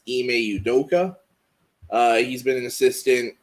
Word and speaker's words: Ime Udoka: is i beli apologies if i say his name wrong i think it's ime udoka uh he's been an assistant under popovich uh